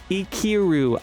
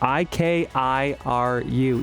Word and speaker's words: Ikiru: 1952's Ikiru, I-K-I-R-U, Ikiru, which is available right now on HBO Max, Criterion, and John's Canopy.